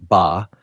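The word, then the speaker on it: 八: Its pronunciation, ba, closely resembles the word fa, which means wealth or prosperity.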